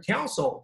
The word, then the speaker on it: council: 哎，注意这两个词的发音啊，这个是 council, c u o u n, council.